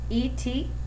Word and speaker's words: et toi: I would say, je m'appelle Madame Bitz, and add et toi, where it says E-T-T-O-I. That little tiny question is pronounced et toi.